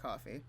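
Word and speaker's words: Ko-fi: Is it coffee? It's pronounced coffee.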